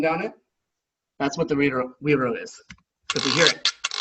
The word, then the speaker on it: güiro: So, güiro is how you're supposed to say it. You don't actually say the G there.